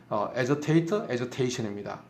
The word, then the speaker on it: agitation: 그들은 그게 아지하고 발음합니다. 정확하게 발음은 agitation,입니다.